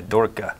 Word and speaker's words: Dorcha: And no, Dorcha is not the correct Gaelic pronunciation. My mother has been able to tell me what the correct Gaelic pronunciation. I pitched that to Brian. He said no. So what's the correct? I have a hard time with it. It's Dorcha? Yeah, Dorka. Dorka. Yeah. So like sounds like dorky, so that's why